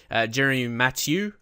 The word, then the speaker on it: Jeremy Mathieu: So we got Jeremy Mathieu.